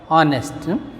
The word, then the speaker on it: honest: We can't make use of a in front of honest because of the pronunciation. Is a vowel sound.